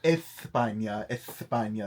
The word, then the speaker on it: España: España. Oh, sorry. España. That's how they say it over there.